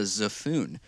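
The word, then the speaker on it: xaphoon: an it's an instrument i found called the zephoon it's spelled x-a-p-h-o-o-n it's like a recorder but in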